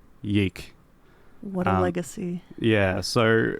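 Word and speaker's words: YIIK: Now, that is Y2K spelt with Roman numerals, but they used lowercase Roman numerals a lot, so it looks like it's spelled Yeeek. Yeah. So fans and haters alike often refer to the game as Yeeek.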